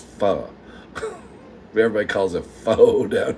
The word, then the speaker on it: pho: Please tell me you don't call it faux. All my redneck family in here calls it faux.